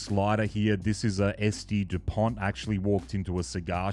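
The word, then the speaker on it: S.T. Dupont: and he was like it's not saint Depon it's SD Dupont I felt a little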